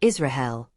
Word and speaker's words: Israel: In classical Latin, it would be pronounced Israel, with a trilled R.